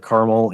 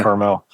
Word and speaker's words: Carmel: It's pronounced both ways here. We pronounce it Carmel. On the West Coast, they pronounce it Carmel.